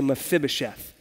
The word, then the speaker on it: Mephibosheth: this guy with a really weird name named Mephibosheth. Everyone say Mephibosheth. See, it's hard, so when I mispronounce it later, you'll be nice to me.